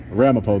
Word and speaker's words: Ramapo: of R I'm sorry this is the town of R Ramapo that's a town yeah Ramapo though is how you say it okay thank you so